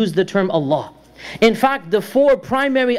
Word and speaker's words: Allah: of Allah is that it is extremely easy to pronounce. There are no hard consonants. It's just an expulsion of air along with a movement of the tongue. Allah. That's it. There's no hard consonants. There's a minimal movement. The lips do not move at all.